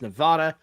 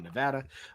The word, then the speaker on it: Nevada: All right, next up, we've got the 7th seeded Dayton Flyers against Nevada, the Wolfpack. I think I pronounced that wrong. It should be Nevada.